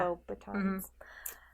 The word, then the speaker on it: Beauxbatons: And then the last one is I went to Beauxbaton. Is that how you say it? Yeah. Beauxbatons.